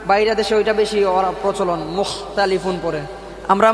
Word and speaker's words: مختلفون: গেছে যে ওইটা বাইরে দেশে ওইটা বেশি প্রচলন মুখ তালিফুন পড়ে আমরা মুখ ততালিফুন পড়ি ঠিক না মুখতালিফুন হবে নরম দিনা